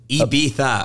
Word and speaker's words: Ibiza: standing in Ibiza, or Ibiza, if you're in, I guess, a dumb American. How do you say it? Ibiza, apparently. Like, Ibiza. But I always go Ibiza.